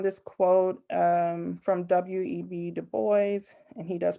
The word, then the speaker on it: Du Bois: quote um from w.e.b du bois and he does pronounce the s in his name or he he wrote that he preferred the s to be pronounced um but um i